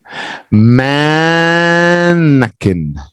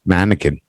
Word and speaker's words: mannequin: English and I've been it's not Quinn it's just kin mannequin mannequin mannequin yeah mannequin there